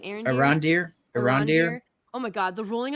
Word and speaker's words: Arondir: Arondir.